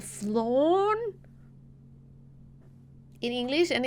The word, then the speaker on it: flan: You pronounce it like pan in Spanish, like bread.